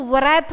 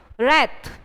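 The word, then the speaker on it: wrath: आप पढ़ोगे क्या रेट डब्लू यहां पे साइलेंट है कई जो स्टूडेंट है वो उसको व्रत बोलते हैं डेट इसे वेरी रंग रात ओके रात का मतलब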